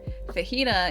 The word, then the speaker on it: fajita: You wouldn't understand that it's a soft J in, you know, jalapeno or for Holly's or fajita.